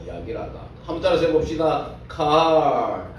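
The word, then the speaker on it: קהל: 카할. 예, 저보다 여러분들이 발음이 더 좋으시네. 카할.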